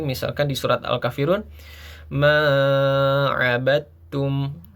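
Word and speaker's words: عَبَدْتُمْ: Ma abadum. Walaupun di situ tertulis huruf dal yang harusnya awalnya kita membaca abadtum tapi huruf dal tersebut masuk ke huruf ta menjadi abadtum.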